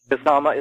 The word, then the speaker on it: Kasama: And I've wondered since I read the Cobra War trilogy how to say that word. How do you say it? Kasama is correct. Kasama is correct, yeah.